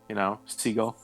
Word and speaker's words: Siegel: It's pronounced like the bird, seagull.